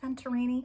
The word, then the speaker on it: Venturini: gonna say it's pronounced venturini she's Argentine so I I feel like I'm saying it like her name's Italian um but anyway so